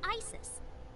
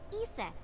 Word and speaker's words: Isis: horse's mom is named isis but in ancient egyptian it's pronounced closer to isa or asa hmm how do i